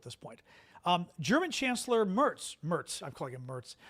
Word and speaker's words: Merz: Um the um Mertl Mertl? It's not Mertl? What is it? I I'm screwing up his name now. Tell me it's not Mertl. It's Merz cuz I always think